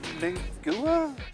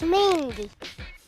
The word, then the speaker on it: Mingua: how to pronounce this it's mwa mingua no that's mingy if you like jerky